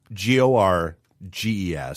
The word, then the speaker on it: Gorges: Gorgeous, The Craftsman's Legacy, PBS. Definitely for the record, GORGES.